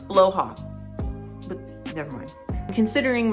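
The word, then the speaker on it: Blåhaj: Except last time I didn't have my blowha with me, which also I learned how to pronounce that correctly. I think it's blowha, right? The stuff shark. It's blowha.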